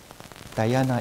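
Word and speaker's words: dhyana: words we use for meditation one is diana dayana is in sanskrit in those days when people practice meditation they will say they practice diana diana e-h-y-a-n-e-a-n in poly they will say jiana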